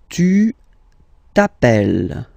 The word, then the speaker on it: t'appelles: All right, second form, tu t'appelles. Okay, remember, final S not pronounced, tu t'appelle.